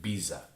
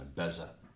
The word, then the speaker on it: BESA: I bet you guys say it Biza. Whereas it wouldn't even occur to me to call it anything other than a Beza.